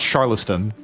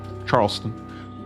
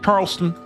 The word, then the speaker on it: Charleston: the second one I've heard people call it Charlston not it's not how it's spelled it's not how it's pronounced Charleston Charleston to uh to my foreign friends out there